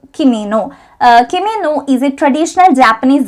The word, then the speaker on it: kimono: അടുത്ത ചോദ്യമാണ് what is ke-mo-nees എന്നുള്ളത്. ഇത് വരുന്നത് ദ ബോഡി പൊളിറ്റിക് എന്ന് പറഞ്ഞ ഒരു പോയത്തിൽ നിന്നാണ്. ഹിറോമി ഗോട്ടോ എഴുതിയിട്ടുള്ള പോയമാണ്. ആൻസർ വരുന്നത് this is actually the mispronunciation of Japanese robe kimono.